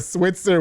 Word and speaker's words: Switzer: Luna and Amanda Switzer which evidently I've been saying her last name wrong all this time it's actually Switzer not Switzerland with embrac Fitness they teach